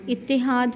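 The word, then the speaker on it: اتحاد: बाद लफज़ है इत्तेहाद इत्तेहाद में देखिए मुशद्द वाला लफज़ है जो मकसूर के साथ आ रहा है पहला हर्फ है मकसूर दूसरा हर्फ भी मुशद्द मकसूर है तीसरा हर्फ मफतू है इत्तेफाक इत्तला अब है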